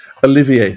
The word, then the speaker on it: Olivier: I want to say Oliver that's pronounced the French way. Olivier, thank you. I knew it was pronounced in the French way.